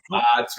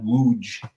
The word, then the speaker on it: Łódź: So the Western pronunciation is Lodz or Lodz. they call it Łódź.